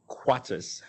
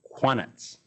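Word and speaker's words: qanat: Around 700 BCE, we start to see technology pop up in what would be some of the early quartzes. Sorry, I'm pronouncing that wrong. Quanets in modern day Iran.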